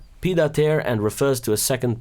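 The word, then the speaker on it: pied-à-terre: Pronounced, Pidater, and refers to a second or part-time apartment, basically.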